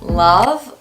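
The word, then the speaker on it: Lauv: that I really like I think is pronounced love love love LA UV love they have that song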